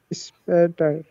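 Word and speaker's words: später: লাগবে না প্রোনাউন্সিয়েশন করেন স্পেটার স্পেটার একটু আগে বলছিলাম যখন এসপি একসাথে শুরু শব্দের শুরুতে বসবে তখন এটা স এর মত উচ্চারণ করবে এই যে স লিখেছি স্পেটার হ্যাঁ বিসপেটার স্পেটার বিসপেটার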